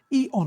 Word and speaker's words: Eon: Eon, I'm saying it slowly. E O N. That's how it's spelled.